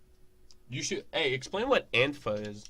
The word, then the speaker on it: Antifa: Hey, explain what Antifa is. Right, that's how you pronounce it. Antifa. Antifa. Or Antifa, if you're clinically retarded. Antifa sounds better. Antifa, yeah.